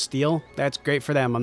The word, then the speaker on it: Stelle: thought that was really fun her name is pronounced steel that's great for them I'm not pronouncing it